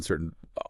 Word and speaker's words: certain: Well, you know, the vowel sound in certain often reduces to uh to what we call a schwa sound. It's like this very short unstressed sound. Kind of like the a in about.